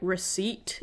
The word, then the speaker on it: receipt: I think like receipt is an exception, which is a stupid word, by the way. What do you mean the P is silent?